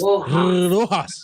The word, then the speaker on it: Rojas: It's Rojas. You got to roll the R with it.